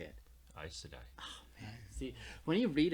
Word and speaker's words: Aes Sedai: Aes Sedai.